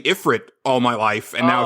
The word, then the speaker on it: Ifrit: has, like, vocals, but, they said Ifrit. Like that. So I was like, oh, that's how it's pronounced.